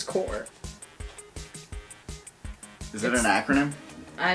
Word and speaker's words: Corps: i pronounced it correct it's not corpse it's core is it an acronym